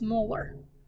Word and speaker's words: molar: per liter or capital m which would be pronounced as molar so if you see like a three with